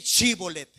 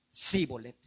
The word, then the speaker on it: Shibolet: Sí, di shibolet. Y ellos no podían decir shibolet, sino que decían síbolet. Inmediatamente porque no podían pronunciar bien esa palabra, sabían que no eran de su pueblo y los mataban.